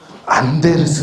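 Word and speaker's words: Anders: 이분 이름이 안데르스 에릭슨이에요. 노르웨이 분인가 그랬어. 그래서 앤더스라고 읽었다가 창피당했었어. 안데르스 에릭슨 이분인데 이분이 이제 최근에 픽이라는 책에서 어떤 말씀을 하시냐면 이런 얘기예요.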